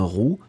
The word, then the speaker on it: roux: Une roue, un roux, eh bien, on les prononce de la même façon.